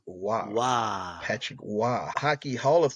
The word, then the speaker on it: Roy: Patrick Wah, Patrick, Roy, but he was always pronounced Wah.